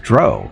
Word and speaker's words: drow: go what they said it's pronounced Dro like in row and I went no